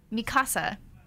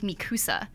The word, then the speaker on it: Mikasa: brother and sister also Mikasa that is how you pronounce her name in the Japanese version in English I think the dub it's like mikusa and so every time